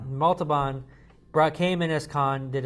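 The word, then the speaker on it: Montalbán: Montalban came in as Khan, did an amazing job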